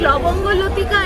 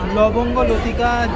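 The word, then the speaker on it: লবঙ্গ লতিকা: Jalebi, this is लवंग लतिका and this is गजा। लोबोंगो लोतिका। जो लोग हमारे चैनल में नए हैं, please try to pronounce लोबोंगो लोतिका।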